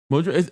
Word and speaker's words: Modulo: Mojo. It's just the katakana way of saying modulo. Mojurro. Mo say mo. They're saying modulo but with like the Japanese pronunciation.